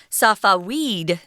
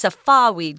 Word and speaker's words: Safavid: I think it's Safavid, guys. Sounds good. I had to look that one up. It looks like it's Safavid, but if you look up the pronunciation, they actually say Safavid, and that was a